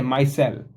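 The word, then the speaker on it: micelle: इसको बोलते कैसे हैं? मायसेल। इसका ये है। प्रोनंसिएशन है मायसेल। ठीक है?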